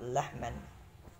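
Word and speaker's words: لَحْمًا: Maka pada lafadz lahman, nah ini huruf lam di situ berharokat fathah, maka kita baca dengan la. Maka ketika huruf lam berharokat fathah, kita baca la.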